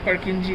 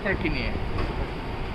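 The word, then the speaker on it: Purkinje: এবং এই সেলগুলো, এগুলো হচ্ছে এদিকে থাকবে cellular layer, outer molecular, middle পার্কিনজি layer, মানে পার্কিনিয়া, আসলে উচ্চারণ তো পার্কিনিয়া, আর আর ইনার গ্র্যানুলার লেয়ার।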